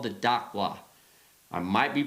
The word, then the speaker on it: Dakwa: d d d d d d d dqua daqua, however you want to put it in there.